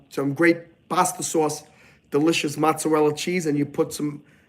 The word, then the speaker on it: mozzarella: Technically, I don't like when Italian Americans leave off the E. They go, I need some mozzarella. I need some bolognese. And they think they're talking in dialect. They're not talking in dialect. They're just not pronouncing their words properly. It's bolognese. Mozzarella. So any of you guys watching, if you say mozzarella, stop saying mozzarella.